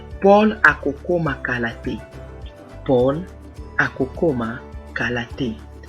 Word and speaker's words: kokoma: Kokoma.